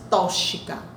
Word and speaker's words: tóxico: É uma substância tóxica. Não existe tóxica. É uma substância o que? Tóxica. O X com som de KS. Porque se vocês pronunciarem tóxica, é considerado barbarismo, né?